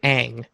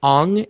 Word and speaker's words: Aang: In the show, they pronounce his name Aang. They pronounce the name Sokka. Why does he pronounce it in the movie as Ong and Sokka?